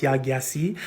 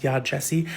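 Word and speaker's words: Yaa Gyasi: I used to think this author's name was pronounced Yagyasi, but it's actually pronounced Yad Jesse.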